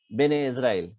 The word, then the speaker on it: Bene Israel: calling themselves bane israel they call themselves ben israel this is the pronunciation that they did of the hebrew bani israel it became in marathi the locally spoken language marathi its variant emerges as bene israel which became the community's name well it's sort of